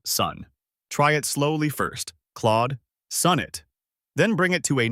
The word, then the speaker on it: Claude Sonnet: Keep the vowel in Claude rounded and the first syllable of sonnet strong. If it helps, imagine tapping your finger gently on sun to mark that stress. A few quick tips as you practice. Record yourself and listen for the aw in Claude and the short O in sun.